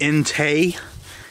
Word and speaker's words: Intey: items here to review I think this is pronounced in teh NT it's a hammock I